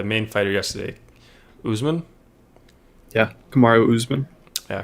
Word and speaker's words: Kamaru Usman: Yeah, Kamaru Usman. Yeah, Kamaru Usman.